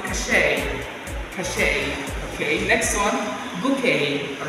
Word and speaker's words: bouquet: You can also say a bouquet of flower. Not bouquet, take note of that.